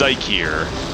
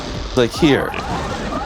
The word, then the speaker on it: Zeikier: It's Zeikier. Zeikier. My apologies. It's all good. I've only known you for practically 20 years and and just cannot remember that. Yeah. Originally it was spelled. What? Wally! But I eventually changed it because I think the current spelling looks better. And also it lines up with German letter pronunciation, you know, the I before